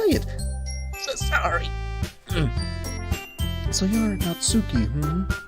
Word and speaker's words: Natsuki: So you're Natsuki, Some people pronounce that Natsuki. I go with Natsuki. Sorry, beat your mic, that's how I prefer it.